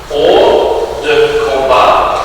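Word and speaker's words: hors de combat: And that's spelled HORSDE and then the word combat. Or de combat is the proper pronunciation of the French language.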